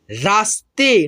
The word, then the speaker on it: रास्ते: आधा जो यहाँ पे स है ना, तो इसको जो है ना हम लोग पढ़ते हैं रा, और आधा स है, और इसके आगे देखिएगा पूर्ण रूप से त है, तो त में इस आधे स को मिला करके उच्चारण करते हैं। ठीक है, ऐसे रास्ते।